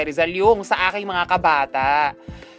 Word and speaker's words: Kabata: Hindi sila sure kung akda talaga ito ni Jose Rizal yung sa aking mga kabata. So, kabata ba o kababata? Kabata. Kabata lang.